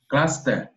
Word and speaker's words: Gloucester: you know pronounce as my sister but they pronounce Lester Lester okay Gloucester this one this one Gloucester Gloucester Gloucester for